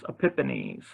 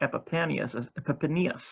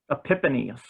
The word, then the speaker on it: Epiphanes: spell the panties but i've always pronounced this epiphanies i guess says um so it's not epipennius sorry about that folks it's not as in epiphanies the guy that wrote